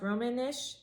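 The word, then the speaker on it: Romansh: Roman, Romanish or Roman, I think it's pronounced Romanish, and Swiss German.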